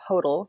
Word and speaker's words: Hodel: is from Austria and the first part of my last name rhymes with that even though it's not spelled that way so Hodel rhymes with the yodel and then it's